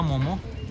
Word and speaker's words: momo: ये मोमोज नहीं, मोमो है। और यहाँ नेपाल में, वे इसे बहुत धीरे से बोलते हैं, जैसे कोई बच्चा बोलता है। मोमो का उच्चारण इसी तरह होता है।